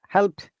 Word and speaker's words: helped: so next what help helped helped okay help help help help yeah if you notice that this d also sounds like t so remember that there